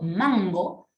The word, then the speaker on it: mango: Y cuando yo pronuncio mango, esa N se vuelve palatal. Es más, suena como un poco nasal. Mira, lo voy a exagerar. Mango, ¿no? Suena como más nasal porque es palatal hacia atrás.